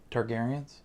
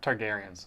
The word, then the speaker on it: Targaryens: prequel yeah it's about the targetings targaryens that's how you say it yeah targaryens you're the book so